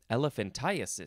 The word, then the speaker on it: elephantiasis: it's the same thing that as elephantitis it is spelled e l e p h a n t i a s i s elephantiasis uh you can also say elephantiasis elephan